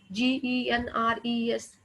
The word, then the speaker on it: genres: Genres. Pronunciation is genres.